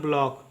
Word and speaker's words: block: उसी प्रकार से BLOCK का उच्चारण होता है ब्लॉक, इसका उच्चारण होता है ब्लॉक, ठीक है।